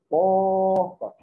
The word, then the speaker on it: porta: Presta atenção, isso se chama porta. Quem que eu falei por mais tempo? O pó. Então aqui, pessoal, sílaba tônica aqui é o pó.